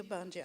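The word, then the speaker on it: Ogbanje: chapter, and the epigraphs work like your I mispronounced it. The spirit children, right? Oh, the Obanje. Yes, the Obanje.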